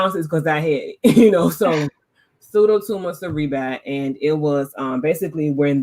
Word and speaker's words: Pseudotumor Cerebri: The only reason I know how to pronounce it is because I had it, Pseudotumor Cerebri, and it was basically when the spinal cord fluid is not recycling at the rate that it should.